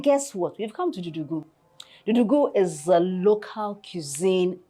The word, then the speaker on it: Dudughu: So it's pronounced Dudughu.